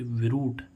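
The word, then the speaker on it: brute: तो ऐसे ही देखो बी आर यू टी इ यानी कि एक व्यंजन छोड़ कर के आ रहा है ई तो इसको हम क्या पढ़ेंगे ब्रूट ब्रूट ब्रूट मींस क्या होता है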